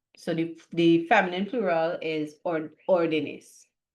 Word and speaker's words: órdenes: When we make it plural, we want the stress to stay here.